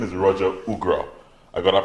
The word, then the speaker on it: Ougrah: His name is Roger Ougrah. I got that pronunciation correct, Roger?